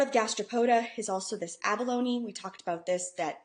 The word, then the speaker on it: abalone: It's abalone is how you say it.